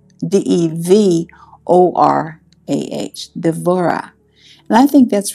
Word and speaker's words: Devorah: And then in Hebrew, it's Devorah, D-E-V-O-R-A-H, Devorah.